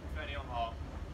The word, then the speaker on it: Faneuil Hall: Faneuil Hall. See, he knows how to pronounce that.